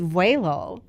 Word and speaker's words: vuelo: always running yeah um so it means way low it is pronounced waylo in in Spanish and um I let